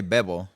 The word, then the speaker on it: Bebo: You can say Bebo. Bebo? Yeah, just Bebo.